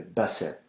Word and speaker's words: basset: Le Basset. Alors, the T is silent.